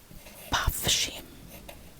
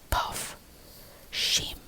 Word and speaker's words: pafshim: So bye, you say as pafshim. Puff sounds the same as you say puff. Like puff, puff, puff, shim. Just 1, 2, puff, shim.